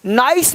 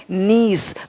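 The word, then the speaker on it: Nice: नीस नाइस नहीं नीस।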